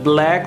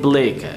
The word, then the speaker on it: Blake: Blake first of all a black nahi Blake mostly the people pronounce billion black it's not black it's Blake okay William Blake in M